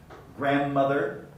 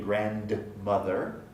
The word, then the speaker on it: grandmother: middle has undergone deletion dragged back rubbed down grandmother we don't say the d in grand mother but grandmother grandmother and again after the d